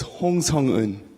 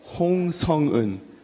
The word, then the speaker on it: Hong Sung-eun: So it's Hong Sung-eun. What is it? Hong Sung-eun. Whoa, shit. Dude. No wonder you can't pronounce that.